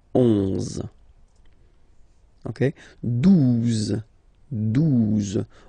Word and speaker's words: douze: Douze, douze, O, U, the two together will give you the sound OO, okay? And then Z, douze, douze, all right?